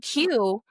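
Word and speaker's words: queue: The word Q, the word Q is just a Q with four silent letters waiting their turn.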